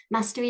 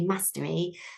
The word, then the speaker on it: mastery: I'm from Yorkshire, so normally I would say mastery, but now I live down south and I have done for a little while where they say mastery.